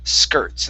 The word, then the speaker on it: skirts: go good um and the only other word pronunciation wise is skirts instead of skirts okay use an er sound skirt skirts okay what